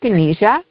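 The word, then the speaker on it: dyskinesia: So if we can can you describe what is tardis um disenia if I'm pronouncing that even correctly disynesia it's a side effect of antiscychotics.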